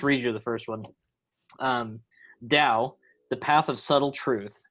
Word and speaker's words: Tao: It's spelled Tao, but it's pronounced Tao.